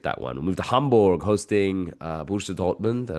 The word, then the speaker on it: Hamburg: We move to Hanborg hosting uh Busha Dortmund and I'll say Amborg because it's the H is silent.